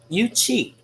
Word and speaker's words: Yuchi: they say in the southeast how do you pronounce the yuki tribe listen real quick i may be saying you're wrong let's check it out youtube you cheat so if you just like tea i should